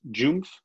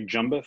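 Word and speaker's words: JUMBF: on some of the jpeg meetings this is pronounced joomf although on the team we say jumboth which is i think a little bit easier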